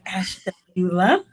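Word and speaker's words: Ashtabula: city called Ash Tula know if you can pronounce that but it's ashula um all of these cities are in Ohio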